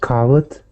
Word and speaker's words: coward: I think she said coward. Coward. Coward. Yeah. Let's say this. Let's say it Coward. this way, Suri. Coward. Coward. Excellent. Good. We want to hear those 2 syllables.